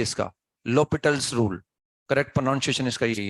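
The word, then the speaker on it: L'Hôpital: rule लिख लो आप एलस पिटल rule लो पिटल rule ए silent होता है इसमें ना लो पिटल रूल बोलते हैं इसको ना तो ठीक है हॉस्पिटल भी बोल दो चाहो तो ना तो अच्छा लगता है सुनने में बाकी करेक्ट प्रस य इसका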